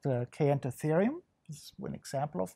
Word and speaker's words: Kayentatherium: So this animal right here, can you pronounce it for this us? This is called Caenotherium.